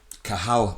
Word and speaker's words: Cathal: I'm here this morning with Kahal. James McCroy told me yesterday I got it wrong cuz I pronounced the T and I'm like I